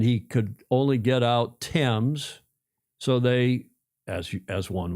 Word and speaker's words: Thames: Tames.